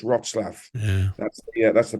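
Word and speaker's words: Wrocław: got one third of its inhabitants uh ukrainians pronounce it again for me Adrian please it's called rotswaff so people think it's rock law but it's rotslav yeah that's yeah that's the pronunciation there's a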